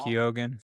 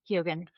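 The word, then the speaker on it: Barry Keoghan: Uh is it pronounced Barry Kogan? Yeah, he was just phenomenal. Barry Kogan. Kogan.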